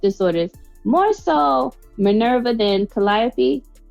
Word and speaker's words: Calliope: more so minerva than calliope did i say her name right yes calliappy i had to write it down phonetically because i was calling